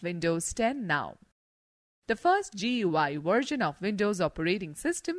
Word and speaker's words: GUI: is a graphical user interface gui pronounced as gui between a computer and